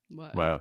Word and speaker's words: Wael: His name's Wael. Is that how you pronounce it? Yeah. Wael, yeah.